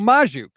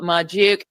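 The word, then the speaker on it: Magdziuk: I usually say Majuk, but I'm listening to the show and I hear... My name is Majuk. I've been saying it wrong.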